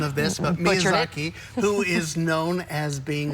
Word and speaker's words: Miyazaki: I was teasing you last week about your pronunciation of this, but Miyazaki, who is known as being, they call him the Japanese Walt Disney.